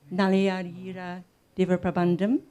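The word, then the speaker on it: Nalayira Divya Prabandham: Is that the correct pronunciation? Nalayadira Diva Prabandam?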